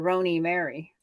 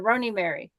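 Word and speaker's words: Roni Mari: they always called her roony Mary Roney Marie or roony Mary because there's no e but I chose to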